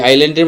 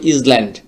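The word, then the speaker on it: island: বাট আইল্যান্ডের মধ্যে কিন্তু একটা এস আছে। এটার উচ্চারণ যদি আমরা করি তাহলে হবে ইজল্যান্ড। বাট এ সঠিক উচ্চারণটা হচ্ছে আইল্যান্ড।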